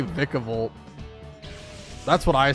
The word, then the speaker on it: Vikavolt: It should be Vika like Pika instead of Vika like or Vikica like Viking. See I say I say Vikavolt.